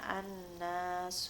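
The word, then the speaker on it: الناس: tulisannya ada lift lam tetapi karena noon yaitu termasuk huruf syamsiah maka langsung cara membacanya annas subway samsu yasjudan seperti itu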